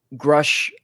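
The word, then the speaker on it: Grusch: it's interesting because before grush like that's how you say his name before David Rush blew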